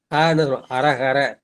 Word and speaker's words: ஹரஹர: அமரருமாவர் அரஹர என்ன அரும்பிறப்பன்றே தமிழ்ல வந்து அந்த ஹங்கிற எழுத்து கிடையாது அதுல என்ன பண்றோம் அது காங்கற எழுத்த வந்து வந்து பயன்படுத்துறோம் ஆனா நம்ம உச்சரிக்கப்போம் ஹரஹர அப்ப அர கரன்னு சொல்லக்கூடாது அரஹர அந்த மாதிரிதான் நம வந்து